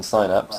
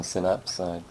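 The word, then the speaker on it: Synapse: so much like uh Frozen sinaps or Frozen synaps depending on your preferred pronunciation the orders that we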